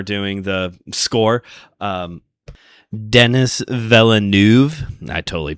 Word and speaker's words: Villeneuve: Um Dennis Villeneuve. I totally butchered that, I bet you. Villeneuve.